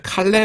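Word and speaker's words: καλέω: 다음 은 칼레오 (kaleo) 로 , 부르다 라는 뜻 입니다 . " 카레 먹어 !" 라고 내 가 외쳤다 . 영어 단어 'call' 과 같은 의미 를 가지고 있습니다 . 발음도 비슷해 요 .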